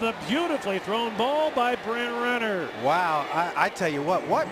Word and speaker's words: Brent Renner: That was a terrible job of me pronouncing Brent Renner's name. I kind of combined it for Brenner, but it's Brent Renner.